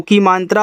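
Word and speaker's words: come: आपका कम हो गया लास्ट वाले इ का उच्चारण नहीं कहना ठीक है तो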